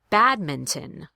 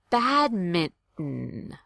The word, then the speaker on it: badminton: So listen to the difference between the two pronunciations. Badminton. Badminton. I'll do it again. Badminton. Badminton. To do that stop T, it's called a glottal stop.